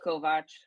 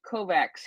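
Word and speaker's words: Kovač: in the United States I know it's Kovach but they pronounce it Kovacs here in the United States it's just a Butchery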